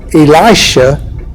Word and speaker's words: Elisha: And for the purposes of keeping them separate, I'm going to pronounce them Elijah and Elisha because Elisha is actually the way you pronounce his name.